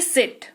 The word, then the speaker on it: seat: Same हो रहा है, बट दोनों का उच्चारण सेम नहीं होता है। एक होता है सिट जिसमें आप अच्छी मतलब क्विक चीज को बोल रहे हैं, एक होता है सीट।